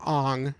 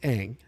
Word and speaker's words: Aang: They called him Ong through the whole entire freaking film. And guys, it's Aang. It's Aang.